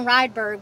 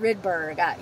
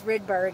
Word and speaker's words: Rydberg: after this redberg stuff um i've been saying rydberg but it's pronounced rydberg you know from calling the facility i learned that so i apologize but it's rydberg it's the same machine but anyway i wanted